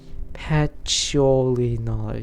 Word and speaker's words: Patchouli Knowledge: Patchouli knowledge, yeah, I pronounced it right.